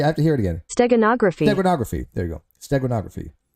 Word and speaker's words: steganography: so it's not stenography no it's not stenography uh it's the it's when you have a like a hidden message inside of a picture is that here I'll play it for you get a pronunciation foreign you're here steganography oh steganography okay steganography technography that's how you pronounce it steganography stag gronography stag